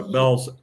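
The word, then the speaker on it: Bealls: Those pants she's talking about, I bought over at Bell's, which is spelled Beals here in Florida. Bell's.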